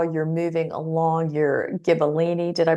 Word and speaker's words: Gibellini: You also talked about how you're moving along your Gibellini, did I pronounce that right, vanadium project?